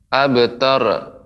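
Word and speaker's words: أبتر: tadi ini terakhir terdengar abtar. Nah, tidak boleh memantul. Nah, ini juga catatannya juga belum saya sebutkan. Ra nggak boleh dipantulkan. abtar, ya, tapi dia benar-benar diucapkan lepas, ya, dan ditafkhimkan.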